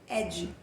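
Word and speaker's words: Eddie: E ele já começa conversando com a gente, ele diz o seguinte: mas meus amigos me chamavam de Adi, que em inglês pronuncia-se Ed.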